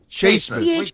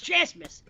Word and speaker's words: Chasmas: Chasemas. CHAS. Hold on, CHAS. There's no E. It's Chasmas.